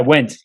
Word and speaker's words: Wendt: Yeah, Wendt. Wendt. Just like, where'd I go? Just want to make sure I'm getting it right. Yeah, you're good. That D's silent.